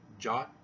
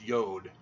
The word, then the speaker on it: yod: There is no J in Hebrew. It originated as a Y, a yod. You know, no jot or tittle, no yod. And so it's not jot. The T is phonetically the same as a D. Spell the word past. And the J is not a J, it's a Y. So it's yod.